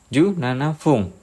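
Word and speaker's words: 十七分: 17 ikuti aturan cara baca 7 menit. Bunyinya fung. Jadi ju nana fung.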